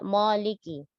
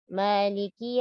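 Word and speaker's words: مالك: Pada kata Maliki, semua hurufnya tipis. Tidak Maliki. Maliki Yau. Dan bacalah mat pada huruf mim, Maliki, 2 harokat saja.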